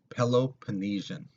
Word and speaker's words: Peloponnesian: It's pronounced Peloponnesian, okay, just in case you're wondering.